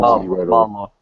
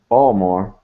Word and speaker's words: Baltimore: you're from the state you don't pronounce the T in Baltimore you just roll it you roll balore Baltimore this is like that's